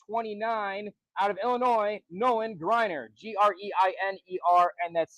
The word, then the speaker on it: Greiner: Next up, we have class of 29 out of Illinois, Nolan Grryer. Gr i ne. And that's spelled like my name. All right. So, and that's Nolan Grryer.